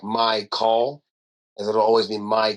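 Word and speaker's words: Mychal: And then my actual name is spelled m y c h a l. And he kind of had So, it's like my call.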